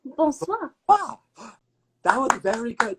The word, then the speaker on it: bonsoir: Now, if it's evening, you can say bonsoir.